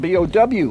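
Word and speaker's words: Bouie: And we say, well, wait a minute, Bowie is spelled B-O-W-I-E. Yeah. In Spanish, there is no W. Somebody can pronounce B-O-U-I-E as Bowie.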